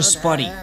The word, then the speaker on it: Spuddy: All right, now I need to catch a Spuddy, which means we need to get two Spuddies to run into each other. Come on, Spuddy. Have you noticed Spuddy rhymes with buddy?